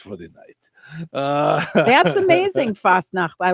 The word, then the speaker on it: Fastnacht: So how do you go about pronouncing it? Fastnacht. Fastnacht.